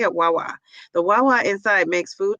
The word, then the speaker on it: Wawa: Wawa.